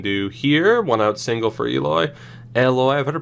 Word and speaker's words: Eloy: 1-out single for Eloy. I've heard it pronounced both ways. I normally went with Eloy, but then I heard Eloy, so now I say Eloy.